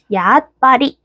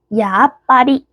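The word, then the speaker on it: やっぱり: 그런데 여기서 주의할 점, 초금은 한 박자예요. 그래서 정확하게 말한다면 야, 앗, 파, 리 라고 발음해 주시는 게 맞습니다. 야빠리, 야빠리 이렇게 발음해 주시는 게 맞아요.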